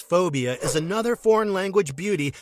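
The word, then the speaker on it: 4bia: transpired six phobia 2008 this thae film pronounced as phobia is another foreign language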